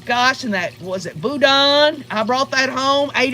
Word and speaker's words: Boudin: Boudin, that's how you say it.